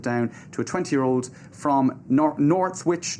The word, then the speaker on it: Northwich: sentences were handed down to a 20-year-old from Northwich. Northwich, is that correct pronunciation?